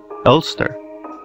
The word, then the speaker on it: Elster: The protagonist is an android named LSTR, pronounced Elster, who wakes up in a seemingly abandoned spacecraft called Penrose 512 that crashed on an unknown planet.